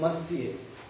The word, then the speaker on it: मत्स्य: संपूर्ण भारतवर्ष में इस शब्द को गलत लिखा जाता है, गलत बोला जाता है, इसका शुद्ध उच्चारण होता है साथियों मत्स्य।